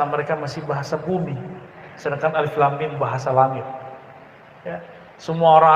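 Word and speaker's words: الم: masih bahasa bumi, sedangkan Alif Lam Mim bahasa langit, ya. Semua orang Arab bingung. Kita alhamdulillah diizinkan Allah Subhanahu wa taala mendapatkan ayat-ayat seperti ini. Dan dibacanya bukan alamun.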